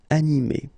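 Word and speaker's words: animée: So masculine form, animé, and then a feminine form, animé. Okay, you don't pronounce this e, but then you should write it.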